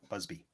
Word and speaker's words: Busby: a buzz was that bugsley Berkeley I'm saying his name wrong it's like bee Busby well let's just do